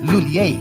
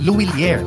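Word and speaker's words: Lhuillier: English speakers commonly pronounce it as Lulier. But for Filipinos, mas madaling ibigkas ang Luilier. Pwede rin gamitin ang initials na ML, which stands for M. Lulier. Pero kahit anong pronunciation pa man yan, lahat pwede.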